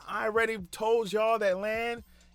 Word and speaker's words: Lan: I already told y'all that Lan rhymes with man because he's my man. Lan, my man.